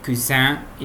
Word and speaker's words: cousine: Le cousin et la cousine. Que é o primo e a prima. Tomar cuidado aqui para não pronunciar esse U, cousine, em cuisine. Não é um U com biquinho, tá?